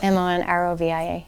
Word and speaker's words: Monrovia: Is it spelled like how I think it is? Monroevi? No, take out the E. Okay. Monrovia.